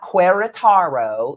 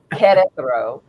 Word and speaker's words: Querétaro: It's not Querétaro. It's pronounced like with a K, Querétaro.